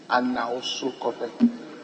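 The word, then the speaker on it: Anawsosukope: In fact, it is spelled A-N-A-W-S-O, so we delete N-O, S-U-K-O-P-E, Anausukope, without the no in between.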